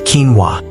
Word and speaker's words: quinoa: Say hello to quinoa, pronounced quinoa.